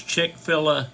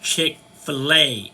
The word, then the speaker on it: Chick-fil-A: I said yeah I'll take one of those chick filler sandwiches the lady said it's pronounced chickfila and I said well it's spelled chick fill